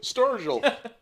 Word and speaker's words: Sturgill: Sturgill. Yeah. Rhymes with That's Virgil.